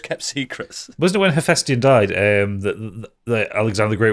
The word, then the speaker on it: Hephaestion: I don't know how to pronounce this. I'm going to go with Hephaestion. Hephaestion.